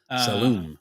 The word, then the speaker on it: Saloom: Saloom. Yeah. So, just like like a saloon, like the Wild West saloon, except the last letter is M instead of N.